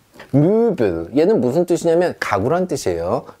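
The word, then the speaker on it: Möbel: 자, 무빌, 얘는 무슨 뜻이냐면 가구란 뜻이에요. 무빌 이렇게 합니다.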